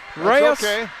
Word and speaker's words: Reyes: one this time jeff i just pronounced her name wrong every time i think it's rest reyes r-e-y-e-s we'll just spell it